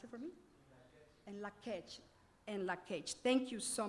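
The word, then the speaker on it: In Lak'ech: Can somebody pronounce it for me? And Lakech.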